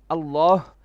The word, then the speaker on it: الله: There's a ha at the end of the word Allah, and many people, they neglect to say Allah with a ha. They say Allah, Allah, as in just with a lam, which is not correct.